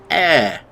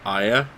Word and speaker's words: Ayre: those the videos aren't they good this is air it's spelled a y r e so i guess if you were scottish you could pronounce it aya but then you'd be wrong but then that's